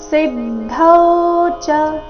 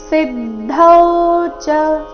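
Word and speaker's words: ಸಿದ್ಧೌ ಚ: ಸಿ ಮೇಲೆ ಆಘಾತ ಸಿದ್ಧಾವ ಸಿದ್ಧೌಚ ಸಿದ್ಧೌಚ ಸಿ ಮೇಲೆ ಆಘಾತ ಗಮನಿಸಿ ಸಿದ್ಧೌಚ ಚರಣದ ಕೊನೆಗೆ ಬಂದಿರೋ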